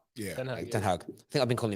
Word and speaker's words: Ten Hag: Is it pronounced Ten Hag? Yeah. Ten Hag. I think I've been calling him Ten Hag recently by mistake.